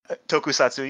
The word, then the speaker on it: tokusatsu: Tokusatsu. How do you say that? Tokusatsu. You got it right.